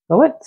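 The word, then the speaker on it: Floette: That's how you pronounce its name. Floet.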